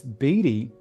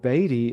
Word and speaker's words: Beatty: it in England, and Beatty is how we pronounce. We always push back against the English because we rebelled years back, and so we always rebel. So it's actually any way you pronounce it is technically correct.